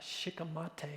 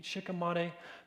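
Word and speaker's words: shikimate: Glyphosate's approved for human consumption because the main pathway that glyphosate interrupts is called the uh shikam mate is how I pronounce it. Sh h i k a t. Shikamate pathway.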